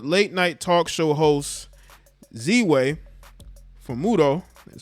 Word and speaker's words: Ziwe Fumudoh: sitting down with late night talk show host z way for muto that's how you say it last night on